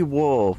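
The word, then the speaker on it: を: was it it's it's looks like it should be pronounced wo but it kind of sounded like they were saying O but it should be wo cuz we already have o but that's we're sitting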